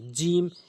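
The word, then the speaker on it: جيم: জিম জিম জিম জিম জিম জিম জিহ্বার মাঝখানে উপরের তালুর সঙ্গে একটু শক্ত করে শক্তভক্ত করে উচ্চারণ করবেন জিম জিম জিম এরপরে মিম মিম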